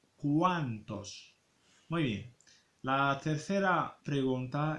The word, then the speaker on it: cuántos: Y حاولوا تردوا البال la prononciación فاش كتكون لينا لا او ماس ا se pronuncia wa cuántos.